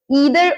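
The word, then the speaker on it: either: के लिए क्या है, ईदर और या आइदर और, दोनों प्रोनाउंसिएशन ठीक है। आपके मुंह में जो सेट है आप बोल सकते हैं। जैसे मैं ईदर और ज्यादा बोलती हूँ, पर मुझे पता है आइदर और भी बोला जाता है।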